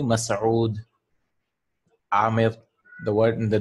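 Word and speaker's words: مسعود: Like the word, the name Mas'ud. Yeah. In colloquial, it's like Masood, Masood. It's actually Mas'ud.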